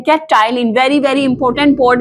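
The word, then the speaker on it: ptyalin: हम कहते हैं क्या, टाइलिन। Very very important, board में आने वाला क्वेश्चन है। टाइलिन पी साइलेंट होता है, टाइलिन इसको बोलते हैं, और ये सलाइवा में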